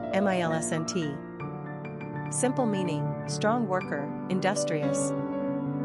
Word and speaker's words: Millicent: Pronunciation, Milsent.